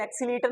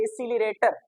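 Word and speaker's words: accelerator: हम कहते हैं एक्सलेटर लेकिन एक्सलेटर नहीं होता वो होता है एक्सलरेटर और जिससे धुआ निकलता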